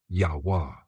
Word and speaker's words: Yahuah: Yahuah. Where this comes from. This version honors ancient Hebrew war being W, not V.